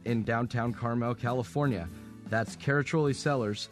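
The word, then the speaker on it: Caraccioli: our Tasting Room in downtown Carmel California that's katoli sellers c a r a cc i o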